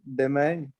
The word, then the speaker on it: demain: Demain. उसका pronunciation भूल गया मैं. actually. Dema, or you can say deme.